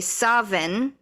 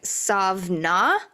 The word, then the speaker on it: Samhain: sessions, the Zoom sessions, I was curious as to why it's pronounced Samhain. Yeah. Because it's like, what part of how is the alphabet like that? There are so many contradicting websites and sources that say they all pronounce it differently. Oh. So they say Samhain, but they also say Savin. There's actually no W. It's actually supposed to be a V. I think I saw like Savna was one.